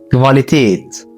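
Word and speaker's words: Qualität: الحرف 17 حرف الكيو بس بيتنطق في الالماني كفا كفا الحرف ده في الغالب بيجي بعده حرف الاو بيتنطق كفاليتيت كفاليتيت يعني الجوده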